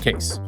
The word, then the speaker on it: Kayse: Let me introduce you to Case. Meet Dan Jacobs, co-founder and CEO of Case. That's spelled K A Y S E, pronounced Case.